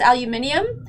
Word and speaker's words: aluminium: It's aluminium, but you know why? It's actually, they're right. We're the ones pronouncing it wrong? Just look at the spelling. Like we say aluminum. No, aluminium. Oh. There's like an I in there.